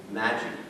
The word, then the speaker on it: Magi: The Magi, that's how it's pronounced.